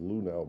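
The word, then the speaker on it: Luhnow: Lori Luno. Looks like it's spelled Lunow, but it's pronounced Luno.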